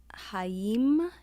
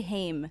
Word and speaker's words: Haim: a song by the band called haim i think is how you pronounce it i used to say heim it's a h-a-i-m it's